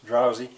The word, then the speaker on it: drowsy: in the last video it sounds like a z but it's spelled with an S drowsy and what I want